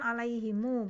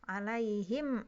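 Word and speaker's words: عليهم: kedua ya tadi kan alaihimu bacanya atau cara kedua yaitu mensukunkan mim jamak boleh ya Jadi ada dua cara ya boleh cara yang kedua seperti Imam Hafiz alayhim Ansar tahunnya 'alaihim ya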